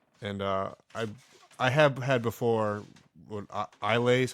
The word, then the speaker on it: Islay: And I have had before, Islay is how you say it?